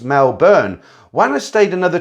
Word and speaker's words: Melbourne: Then back to Melbourne, pronounced Melbourne.